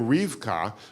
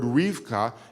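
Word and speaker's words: רבקה: So it seems that Rivka is actually not the original pronunciation. It seems that the original pronunciation of the word was Rebecca, that it was 3 syllables, not 2 syllables.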